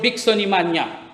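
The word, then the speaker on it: Bixonimania: The disease was called Bicksonimania. It rhymes with pneumonia, anemia, osteopenia, all these diseases that have a nia in it.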